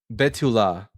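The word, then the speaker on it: בתולה: Betula. Betula. You see it right here. It's spelled bav vav lame.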